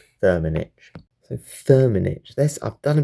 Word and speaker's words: Firmenich: Right, let's find out about Firmenich, and let's see how we pronounce it. Firmenich. Firmenich.